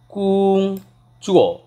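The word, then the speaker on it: 工作: বলে বা কিভাবে বলে, অর্থাৎ কোন পেশাটাকে কিভাবে উচ্চারণ করে। তো প্রথমেই জব অর্থাৎ চাকরি, চাকরিটাকে মূলত বলে কুং চুয়ো।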